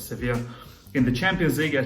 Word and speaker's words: Sevilla: up against seville uh sofia however you pronounce it i think you pronounce it as sevier in the champions league